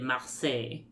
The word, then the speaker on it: Marseille: Also, shout out to Garrett Wong for pronouncing it Marseille. Yeah. Just like, I took French and I'm gonna show you.